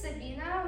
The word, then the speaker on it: Sabina: in grade 10A and my first name is Sabina which is sa b a i n a